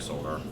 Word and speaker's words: solder: It's spelled with an L in it. Just keep running. Keep running. I mean, I know it's pronounced solder, but it should be like solder.